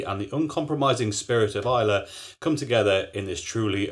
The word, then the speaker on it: Islay: this truly original beer have I been saying Isa right this video my first video I said it wrong all the way through and called it islay and as a result